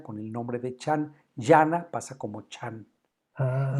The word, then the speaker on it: Dhyana: en sánscrito con la palabra Dhyana, d h y d a n, Yana. Yana. Que también lo escriben escriben a veces la d h como j, ¿no? Yana o Jana, ¿sí? O Dhyana también se escribe Jana.